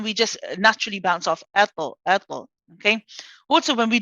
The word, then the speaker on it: طاء: Now notice when ato, you're not it's a nice gentle finish. So you're not saying ato, for example, ato. You know that sort of abrupt hamza sound at the end, that sharpness at the end.